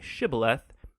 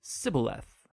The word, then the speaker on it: shibboleth: turned out that the ephraimites had grown up pronouncing that word differently so instead of saying shibboleth they would say sybileth when that happened the gili knight guard would